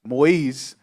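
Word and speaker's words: Moïse: installing banana exporter jovenel Mo Moise moiz as its 58th president it's a French pronunciation of Moses go ahead Moise faces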